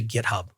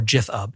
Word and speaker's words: GitHub: my AWS credentials into GitHub or GitHub depending upon pronunciation Choice then I would notice